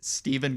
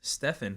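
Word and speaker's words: Stephen: 14th place, Steven Got Even. What? Look at that. That's like a diss. I'm not even gonna laugh at that. That's just Steven got. No. It's spelled with a PH. It's Stefan.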